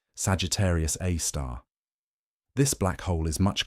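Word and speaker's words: Sagittarius A*: own Milky Way galaxy called Sagittarius A, pronounced Sagittarius A star.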